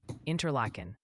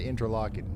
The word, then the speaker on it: Interlaken: New York action gently suggest it's pronounced Onida, Onida, and Interlaken. Interlacen. Y'all, I'm I'm gonna tell y'all about to just stop trying to help me pronounce stuff. I said interlocking.